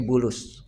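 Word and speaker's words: بولس: Ba lam sin. Ya, dibacanya bulus.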